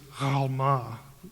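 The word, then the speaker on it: עלמה: Now, in Hebrew, it's Alma. The letter is pronounced in the back of the throat. And that's why it gets transliterated sometimes with a G in certain books, like Gomorrah. It actually begins with the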